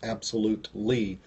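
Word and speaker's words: AbsoluteLee: It's at Absolute Lee. That's the word absolutely, but it's spelled absolute just like the word absolutely, except instead of L-Y, it's L-E-E.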